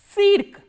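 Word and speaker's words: цирк: How will you pronounce this word? Cirque. Cirque is circus. So, let us revise all these words once again. Stantia, which is station, tsitok, flower, tsientre, center and cirque, circus.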